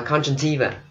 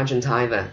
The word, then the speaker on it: conjunctiva: Người Anh họ đọc là conjunctiva, conjunctiva. Nhưng mà Mỹ họ đọc là conjunctiva, okay, conjunctiva. Cho nên mình chọn một cách, mình chọn một cách thôi để mình khỏi bị rối, okay. Conjunctiva, thầy chọn cách Mỹ, conjunctiva, okay.